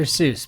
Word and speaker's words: Seuss: Author who originally intended his pen name to rhyme with voice, though Americans pronounced it differently. Yeah, that would be her doctor. Zoe, but he became Dr. Seuss because you know that's what we do in America.